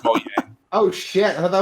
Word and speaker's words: Mojang: Wait, is it really pronounced Mojang? It's not Mojang? Yes. Yes, it's pronounced Mojang.